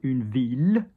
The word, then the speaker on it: ville: Double L is a pain in the ass because, for example, a town, une ville, which is how it should be pronounced. But, for example, a girl, a daughter, une fille.